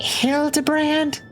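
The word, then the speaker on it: Hildibrand: It's pronounced Hild Debrand.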